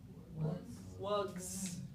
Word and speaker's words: wugs: now i have two wugs right so listen to that sound at the end is that an s it's a z sound okay and it turns